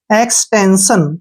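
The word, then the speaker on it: extension: एस के बाद आई ओ एन आया तो इसको शैप पढ़ना है सारे को, एस आई ओ एन, शन, एक्सटेंशन। क्या बन गया?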